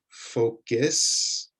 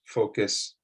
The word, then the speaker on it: focus: Instead of that, they make an I sound, bonus, focus, method.